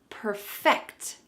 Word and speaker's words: perfect: is to perfect something perfect something notice this pronunciation Perfect the final part of this phrase is what we're going to emphasize perfect can you say